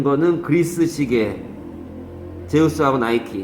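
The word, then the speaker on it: Nike: 얘는 나 있은 지 게 이해가 안가는 것 발음이 이놈의 그러면 나의 쎄게 아니고 나이 쓰고 여름엔 아이크 가 아니고 나이키 냐 지금부터 기억이 나네요 이 몰라서 이거 어떤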